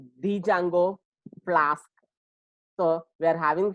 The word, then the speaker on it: Django: It is actually, the spelling is Django, but pronounced it as a Django and Flask.